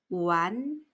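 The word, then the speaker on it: 完: 완료의 완자를 쓰고 중국어로는 WAN 이성, 우완 하고 소리냅니다.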